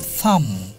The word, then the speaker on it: thumb: Jemon thumb. Thumb banan ki bolo to? T-H-U-M-B, thumb. The silent letter is? B.